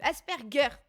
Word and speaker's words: Asperger: Le G se prononce comme s'il y avait un U. Asperger.